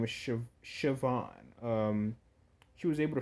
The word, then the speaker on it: Siobhan: one of the new subscribers was able to pronounce the name for me thank you for that by the way her name is Siobhan um she was able to find Louis was